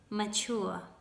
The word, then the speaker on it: mature: so it means that the ending ture is not pronounced as chair it's pronounced in a different way and the first will be mature mature than immature immature